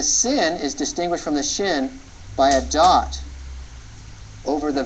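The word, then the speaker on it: שׁ: a simple s the the shin is pronounced as an sh sound like in he kicked me in the shin or the sh in ship okay the only difference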